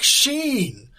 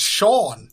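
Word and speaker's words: Shean: Please, you may call me Cleric Sheen. Some people say it's Sean. They are wrong. Oh, so it's pronounced literally. Sheen. Sheen. Oh, Yes. It's like both put together. S-H-E-A-N.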